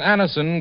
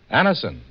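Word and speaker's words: Anacin: the pain of headaches neuritis or neuralgia when Anderson gives you such incredibly fast relief there's a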